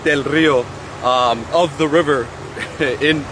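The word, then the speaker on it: Del Río: border here in del rio texas uh better pronounced del rio um of the river in in english and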